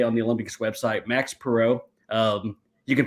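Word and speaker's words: Max Parrot: So Max Perot, indeed, it's Perot, right? Spelled parrot in English, but the French way of pronounce, or the proper way of pronouncing is indeed Max Perot.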